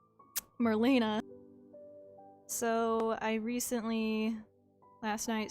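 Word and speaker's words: Merlina: ones we've seen are milena you know Merlin I can say her name correctly Marlena so I recently last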